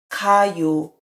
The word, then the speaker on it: 가요: If the stem does not have 받침, you don't need to say 아 because without 아, it is much easier to pronounce. 가요, 가요.